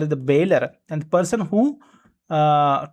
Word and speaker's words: bailor: So in that way remember pronunciation bailor owner. So very simple the person who delivering the goods is called as the bailor and the person who uh to whom that